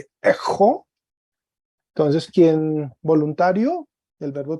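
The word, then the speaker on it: ἔχω: Fíjate que en este verbo, el acento está en la primera palabra, en la primera sílaba. Entonces se lee ejo, en la segunda se lee ejeis.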